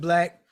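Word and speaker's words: 6lack: It's spelled, the B is a 6, 6 Lack. He Yeah. pronounces it Black.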